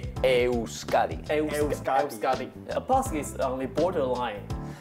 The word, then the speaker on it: Euskadi: In our language, it's Euskadi. Euskadi. Euskadi.